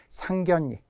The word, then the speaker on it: 상견례: 들리시나요 상견 이와 상견 내의 차이가 느껴지시나요 여러분도 발음을 정확하게 하려고 했어야 된다는 거죠 상견 예 우리 집에 누나 언니 오빠 또는 나의 상견